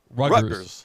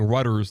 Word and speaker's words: Rutgers: Rutgers. Like you're saying Rudders, like the gas station. No, Rutgers.